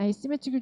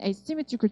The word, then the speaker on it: asymmetrical: 이 설명하는 부분이니까 어떤 걸 가진 asymmetrical tread이야. asymmetrical은 대칭이고요. A자만 붙이면 비대칭이 돼요. 그래서 A 빼고 symmetrical 하시면 대칭. A가 붙으면 asymmetrical인데 이 A가 강세가 없어.